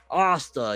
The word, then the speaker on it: Asta: I pronounce it wrong, I know, but I've been pronouncing it since before there was an anime and an English dub. Asta, yes, we'll go with Asta from now on.